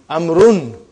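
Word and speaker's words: عمرو: It is not pronounced. It is only written. Why? Just to differentiate between these two. Actually, it is Amrun.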